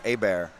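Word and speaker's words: Hebert: one a common name down here is a a bear but it's pronounced it's spelled h-e-b-e-r-t so it's herbert and we heard y'all over on the announce i think calling out has the name herbert they're like they're not gonna know who y'all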